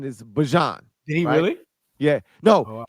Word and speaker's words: Bijan: He told us in the hallway and shit. It's Bijan. He told us the correct pronunciation is Bijan.